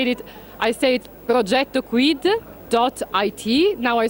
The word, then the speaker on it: Progetto Quid: For the Italians, I say it Progetto Quid. .it. Now I spell it for the non-Italian.